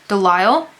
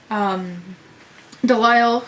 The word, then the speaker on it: Delisle: Delisle sounds like denial, because he's in denial about a lot of things, Navidson.